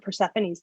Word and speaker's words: Persephone: amateur or demeter persephone i don't think i've ever heard persephone's name first uh pronounced differently versaphone oh yeah okay wrong we're just going to go out and say this that is flat out wrong yeah persephone demeter um